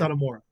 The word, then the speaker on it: Satomura: Satomura.